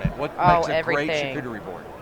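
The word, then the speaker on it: charcuterie: what makes a great shuie board am I saying it right yeah shuie shery yes okay I am you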